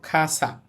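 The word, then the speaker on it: 傘: কিন্তু উচ্চারণটা আমরা অনেকটা খ এর মত করব। আমরা এটাকে উচ্চারণ করব খাসা। আমি আপনাদের বলেছিলাম কালাইন কা কি কু কে কু এটা শব্দের শুরুতে থাকলে খ এর মত বলতে হয় খাসা খাসা মানে ছাতা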